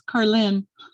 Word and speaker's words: Carlin: It's Carlin. Oh, wow. No O in that name. It's just Carlin.